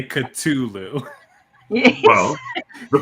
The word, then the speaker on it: Cthulhu: First of all, love that you say Cthulhu. Yes. Well, the correct pronunciation is Cthulhu, but whatever. I just say Cthulhu.